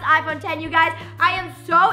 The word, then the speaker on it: iPhone X: as the iPhone X it is spelled iPhone X pronounced iphone 10 you guys I am